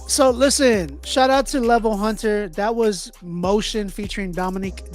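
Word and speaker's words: LVL Hunter: So if y'all want to check it out, it's spelled LVL and then the word Hunter, HUNTER. That is the artist name, Level Hunter.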